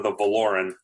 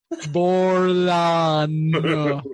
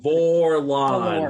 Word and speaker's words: Vorlon: We would be No, Justin calling them the Valoran.